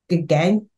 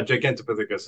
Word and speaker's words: Gigantopithecus: There was one called Gigantuous, something. I don't think I'm pronouncing this properly. Gigantopithecus. Oh, Gigantopithecus. Yeah, Gigantopithecus is how you pronounce yeah, that.